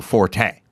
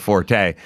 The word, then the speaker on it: Forte: he got traded to Forte. So now he had to go live with the Forte people who were mispronouncing Fort and calling it Forte.